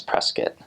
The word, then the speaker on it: Prescott: spelled the same way but in Arizona it's Prescuit and then I say my name Prescott but people called me well when they knew my name they called me Prescat. Um so Prescuit Valley and that's a little bit more north too.